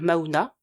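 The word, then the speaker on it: Mahuna: 80 € avec le code Maouna comme bah comme ça s'écrit mon prénom M A H U N A.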